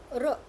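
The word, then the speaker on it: ऋ: The pronunciation is r. When you pronounce, your tongue slightly touch your cerebral part, your top part of your mouth.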